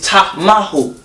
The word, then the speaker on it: Tamahu: It's actually pronounced Ta-Ma. And he just says Ta. It's Ta-Ma-Hu. And it's a reason why, because we can break down each syllable.